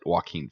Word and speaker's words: Joaquin: good cast oh yeah joaquin phoenix right that's how you say it walking vlogs robert de niro